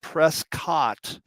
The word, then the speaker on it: Prescott: It's spelled Prescott, but it's Prescott. And if you're from Arizona and you say it wrong, they'll tell you about it. It's called the Elks Theater.